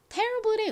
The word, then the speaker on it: terrible: 가장 앞에 강조를 빡해서 발음해 주세요. terrible. Terrible의 의미가 뭔가요?